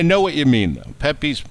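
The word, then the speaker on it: Pepé: warehouse to know this, it's spelled P-E-P-E with the apostrophe over the last E, because it's like Pepe, like he's Hispanic.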